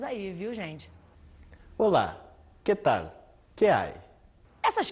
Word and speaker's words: Olá: iniciar uma conversa né problema de pronúncia é muito comum que o brasileiro fale Ola que tal Porque o nosso L final ele tem som de u o l do português ele é fenomenal ele é lateral quando ele é